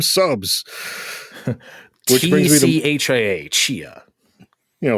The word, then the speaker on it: Tchia: Yes, it's called Tchia, and I only know that because the helpful